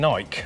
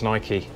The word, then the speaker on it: Nike: I don't know, I think it's Nike. I got a funny feeling that's an American brand and the Americans say Nike, so yeah, I think we got it wrong calling it Nike.